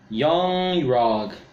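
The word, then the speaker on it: Yon-Rogg: Yung-Rog. Yeah, that's how you pronounce his name.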